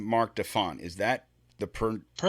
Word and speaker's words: Marc Defant: So I pronounced your name Mark Deont.